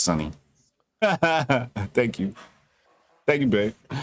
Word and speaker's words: Suni: We were like, without Simone, it's pronounced Sunny. My bad. Shorty just texted me. She says pronounced Sunny. Thank you. Thank you, babe. Sunny Lee has brought home the gold.